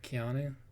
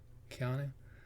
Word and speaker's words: Keanu: Keanu. Keanu.